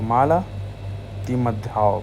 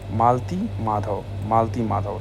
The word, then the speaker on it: मालती माधव: और मल मित्यधा, तो माला तिमध्याव, ओ सॉरी प्रोनाउंसिएशन मेरा गलत था। ये जो किताब है ये है एक है महावीर चरिता भावभूति की और दूसरी है मालती माधव, ठीक है।